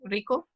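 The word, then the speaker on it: Ricoh: least 20 copy machines from how do you pronounce this copy machine is that aged silent Rico Rico okay okay first by mr.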